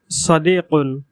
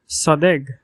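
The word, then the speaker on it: صديق: এরপর সদিকুন, সদিকুন। বিশুদ্ধ আরবি ভাষায় সদিকুন মানে বন্ধু। এর আঞ্চলিক উচ্চারণ হলো সদেগ, সদেগ। এখানে কফের উচ্চারণ গ এর মতো হয়েছে, সদেগ, সদেগ।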